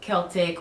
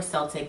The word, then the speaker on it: Celtic: So that's more now we're talking about druids, uh, Celtic or Celtic, depends on how you pronounce it, Wiccan, all of that is paganism too within itself, but that's more of the European uh, magic.